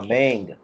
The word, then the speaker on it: mang: अच्छा, आप इस तरह बोलें MANG, इसको प्रोनाउंस करें। सर दोबारा करें। MANG, हाँ मैंग, बिल्कुल मुझे यही तवक्को थी, मैंग।